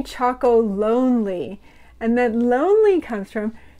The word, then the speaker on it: Chocolonely: the name comes from it's not tony's chocoloney which is sometimes it's tony choco lonely and then lonely comes